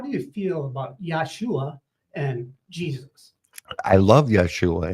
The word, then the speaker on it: Yeshua: Yeshua, and it's also, some people pronounce it Yahushua.